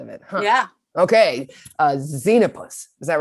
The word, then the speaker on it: Xenopus: Okay, Xenopus. Is that right? Mm-hmm. That's a great word. Okay. Heckety peckety bumblebee, won't you say this word with me? Xenopus.